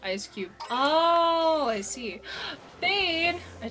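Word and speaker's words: Eiscue: It's pronounced ice cube.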